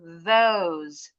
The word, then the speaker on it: those: Those. Those. Yes, sekali lagi. Masih ada kedengaran D. Those. Those. Good. Ujung lidah keluar pasti bunyinya bukan D.